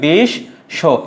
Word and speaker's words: বিশ্ব: বিশ্ব এটি বানান, এর উচ্চারণটা কি হবে মনে রাখবা, এই ব ফলা আর ম ফলা যদি শেষে থাকে তার উচ্চারণটা হয় না, কিন্তু যেই বর্ণের সঙ্গে থাকবে সে বর্ণটি দিতে হবে। কার সঙ্গে আছে?